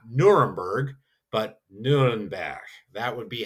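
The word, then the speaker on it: Nürnberg: Nuremberg not Nuremberg but Nuremberg. That would be how you would pronounce Nuremberg in German.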